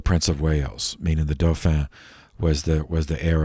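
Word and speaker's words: dauphin: children born to the doh fan of france uh the dopher that's spelled d-a-u-p-h-i-n uh that was uh uh that the french analog to the prince of wales meaning the dofen was the was the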